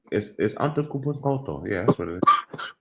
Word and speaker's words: Antetokounmpo: It's Antetokounmpo. Yeah, that's what it is. Spell it out, Craig.